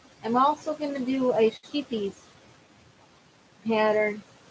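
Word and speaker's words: Scheepjes: Sheepies yarn, yeah, it's from England. And it's spelled sheepjes, Sheepjes.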